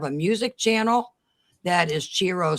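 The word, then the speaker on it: Chi-Rho: It's Chiro, which actually means alpha and omega in Greek.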